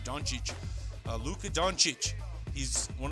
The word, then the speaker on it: Dončić: appreciate I want to say his name right Don Cheech Lucca Don Cheech he's one of the greatest